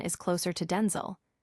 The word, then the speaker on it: Denzel: pronounce his first name, Denel, is in fact not the original or intended way. He clarified that the authentic pronunciation is closer to Denel with a distinct shorter I sound, a subtle yet significant